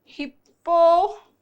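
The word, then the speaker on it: hippopotami: एक तो हिप्पो पो टे मसस, SES लग जाए जो इतना कॉमन नहीं है, या बनता है हिप्पोपोटेमाई, माई है इसका प्रोनाउंसिएशन, मी नहीं है, हिप्पोपोटेमी नहीं, हिप्पोपोटेमाई।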